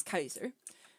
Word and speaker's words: Caesar: pronounce his name as kaiser but yeah because that's how he pronounced this he pronounced it with the k but caesar uh he